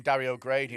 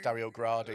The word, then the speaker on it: Dario Gradi: well that he was calling him Dario Grady and it's Dario gradi I that oh I'm